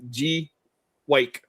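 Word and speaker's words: Gweike: And she sent me back and she said it's like G-Wake, like wake up.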